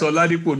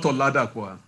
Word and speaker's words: Oladipo: It's Oladipo, not Oladapo, I hope. The O is silent, it's Ladipo.